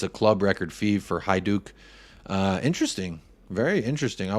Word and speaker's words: Hajduk: uh the americanka is in the house it's pronounced High Duke big up Americana our resident Croatian uh correspondent